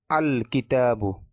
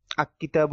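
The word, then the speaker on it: الكتاب: হয় যেমন কিতাবুন থেকে আল কিতাবু আ কিতাবু এরকম হবে না আল কিতাবু লাম টা স্পষ্ট এবং আলাদাভাবে উচ্চারিত হবে এভাবে এরপরে রয়েছিল যে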